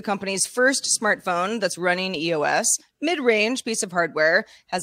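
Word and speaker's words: /e/OS: Yeah, they're not pronounced though. So we're just going to say EOS.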